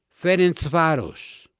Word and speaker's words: Ferencváros: Miren, algunas de las barras más bravas del mundo son Estrella Roja, Bad Boys en Serbia, Ferencváros, y lo pronuncio así porque hablo húngaro, este es de Hungría,